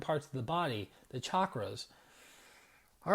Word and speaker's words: chakras: First of all, I was pronouncing them as chakras, so I wasn't saying it right, because in Sanskrit, there's no sh, it's chakras. Number two, that there's not